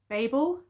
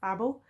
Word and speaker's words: Babel: So this is the author of Babel, or sometimes it's pronounced Babel, and also the Poppy War trilogy.